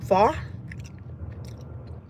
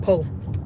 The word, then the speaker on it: pho: Because I ain't gonna lie, I used to call it po. And then one time my boss was like, "No, Jackie, it's pho."